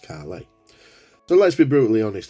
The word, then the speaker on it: Caley: can see there that it says pronounced Carly so let's be brutally